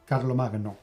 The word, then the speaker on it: Carlomagno: In my case it would be Carlomagno. Sounds sexier. Anyway, this is a game